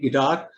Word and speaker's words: guitar: Okay, u is silent generally when it comes after a g, as in guard, colleague, guest, guide, guitar, and also the word unique.